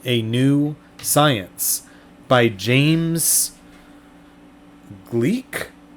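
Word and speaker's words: Gleick: new science by james gleek maybe that's how you pronounce it g-l-e-i-c-k author of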